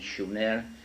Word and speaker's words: Sumer: time in a country, in a land called Sumer, in the correct spelling and pronunciation, Shumer, which meant land of the guardians, in southern Mesopotamia, which is today's Iraq.